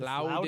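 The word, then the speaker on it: Loudoun: It's Loudon Loudon?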